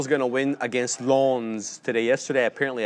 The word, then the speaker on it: Lens: Lans today yesterday apparently I said it wrong I said lens and I was I was uh scolded in the chat it's l they got to do it the French way right um I think